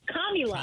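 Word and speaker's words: Kamala: instead of comrade Comma just say commi la Kami La I mean that's the best way to remember how to say her name well I still I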